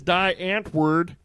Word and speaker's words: Die Antwoord: wo Ord oh okay die and America it's die Antwoord but it's pronounced D as in because they're foreign hey